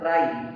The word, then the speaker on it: wry: Next word meaning है राई, WRY। यहां कर देता हूं WRY। इसमें W जो वर्ड है, यहाँ पे जो ये W है साइलेंट है, इसको बोलेंगे राई।